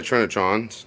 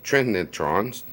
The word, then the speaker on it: Trinitron: love my shawnee trinitrons trent neutrons you know you gotta spell it correct say it correct but i really can't but it's t-r-i-n-i not t-r-i-n-a not not where the a is with the n i i mean so